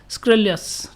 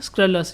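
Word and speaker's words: scurrilous: Next है स्क्रेलस। ये जो स्क्रीलियस ऐसे मत पढ़ो, स्क्रलस ऐसे इसको पढ़िए आप, ठीक है। ये बीच में से आई को गायब कर दीजिए, इसका प्रोनाउंसिएशन होगा स्क्रलस।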